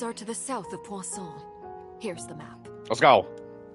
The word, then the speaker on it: Poisson: I don't think you pronounce the last N. Poisson. Poisson. It's like croissant.